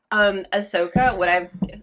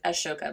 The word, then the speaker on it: Ahsoka: Ahsoka, it's not Ashoka, but it's hard to pronounce.